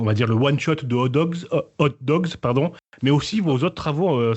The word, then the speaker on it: Hot Dogz: Je le prononce bien, Hot Dogs. Ouais, exactement. Ça reste Avec pas trop un compliqué. Z à la fin.